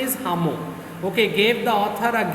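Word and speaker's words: Lhamo: by the name of hamo remember l is silent so the name is pronunciation is hamu okay gave the author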